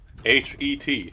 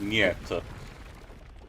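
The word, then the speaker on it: нет: You wanna know, Leaves, how no, it's actually written in Russian? H-E-T, het, but it's pronounced niet.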